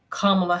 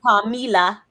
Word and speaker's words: Kamala: Kamala Harris, whatever. Not Kamila.